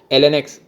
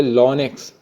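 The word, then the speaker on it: ln: अगर कोई बोल के भाग जाए एल एन एक्स या फिर कोई बोले लॉन एक्स, ठीक है, दोनों तरफ से प्रोनाउंस किया जाता है इसको, तो दोनों ही का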